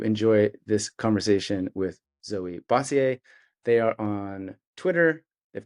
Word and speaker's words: Bossiere: It's a Bossiere.